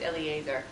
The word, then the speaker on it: Eliezer: I think the guy's name is actually pronounced Eliezer. Eliezer, okay.